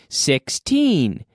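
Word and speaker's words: sixteen: And we have 16. Da-da. The intonation on the second syllable.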